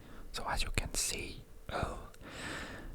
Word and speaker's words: øl: So as you can see, öl, there's a dash on the O, so it's the sound öl, which means beer.